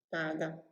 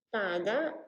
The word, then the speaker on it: pāda: pronuncia è rassegnato sasseto ma dovrebbe pronunciarsi proprio vada e questa parola andava